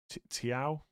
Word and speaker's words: Thiago: It is Chow, but with a T. Okay. Tiao?